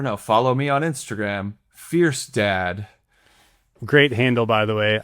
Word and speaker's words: Fjerstad: Fierce Dad. Great handle, by the way. I love that handle. Thank you. It's just because that's what my last name sounds like when you pronounce it.